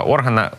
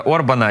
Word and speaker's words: Орбан: має на увазі саме Віктора органа органа Перепрошую Віктора Орбана його кліку навіть не